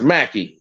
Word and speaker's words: McKay: guantee about and actually my name is pronounced Macky not no damn M you